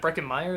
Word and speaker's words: Breckin Meyer: Breckin Meyer, is that how you say his name?